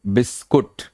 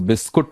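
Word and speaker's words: biscuit: तो वहां पे वो जब असिस्ट कर रहा होता बोलता है बिस्कुट, और वो दोबारा बोलती है बिस्कुट, बिकॉज बिस्कुट प्रोनाउंसिएशन अच्छा नहीं माना जाता। तो दैट इज द बिस्किट, और बिस्किट को फिर कुकीज, क्रैकर, ये अमेरिकन में है।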